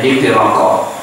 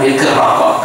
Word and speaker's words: Iqra: juga dialek Jawanya aturan Iqra dibacanya iki rokok Jadi sepertinya dia menyebut iki rokok padahal sebetulnya bukan itu tujuannya tapi karena kurang pas sebutannya kedengaran iki rokok padahal Ik rokok katanya lalu datang yang dari